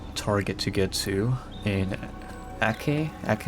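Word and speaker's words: Acre: have one more Target to get to in ak ak it's called AK like R is pronounced as a k for some reason I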